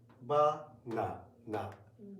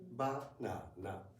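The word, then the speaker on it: バナナ: In Japanese, every syllable should be pronounced for the same length of time. Okay. Let's see. Okay. Ba-na-na. Ba-na-na. Ba-na-na. In English, it's more like banana. Banana. Yeah. The second one is longer. Yeah. Much longer.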